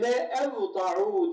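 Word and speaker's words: ولأوضعوا: O la diye yazılır, le diye okunur. La yazılır, le diye okunur. O la'nın altına da kasır yazar. Yani bunu la diye okuma, le diye oku.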